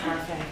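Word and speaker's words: Barfée: It's pronounced Harfang.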